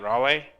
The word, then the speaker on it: Raleigh: to Raleigh North Carolina how you say it Rolly Rolly Rolly Rolly Rolly Carolina Rolly Rolly um